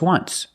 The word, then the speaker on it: once: Or this example, just once. But you say there's an O in once. That's a vowel. But phonetically, it's not a vowel. Phonetically, it makes the sound w, like a W.